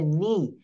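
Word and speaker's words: knee: আমার rule on বলছে শব্দের শুরুতে কে এন থাকলে তার উচ্চারণ হবে দন্তন্য অর্থাৎ এক্ষেত্রে কে অথবা অচ্চারণ করা যাবে না প্রথম রুলটা কি আপনি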